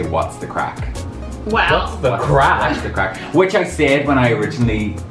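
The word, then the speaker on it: craic: Spell it C R A I C. So it's like just C R A I C. Crack.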